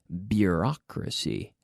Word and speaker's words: bureaucracy: BU beer beer bureaucracy bureaucracy so bureaucratic people there is a lot of bureaucracy bureaucracy be careful with the pronunciation there bureaucracy not booooo but beYOU beaut bureaucracy so have the be